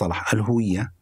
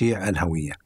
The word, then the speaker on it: الهوية: It is pronounced like this: "al-huwiyyah" with the vowel u. It's commonly pronounced "al-hawiyyah" with the vowel a, instead of the vowel u in "al-huwiyyah".